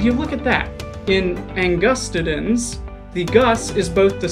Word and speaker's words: angustidens: stressed for example carcasses angus titans but thanks to linguistics we know that all four systems of latin agree the accented syllable is always the second or the third from last and would you look